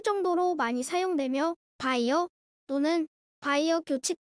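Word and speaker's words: Beyer: 클리니 됩니다 답변 드리겠습니다 바이에른 잘못된 발음 이고 정확하게는 바이어가 맞습니다 이름은 페르디난트 라고 합니다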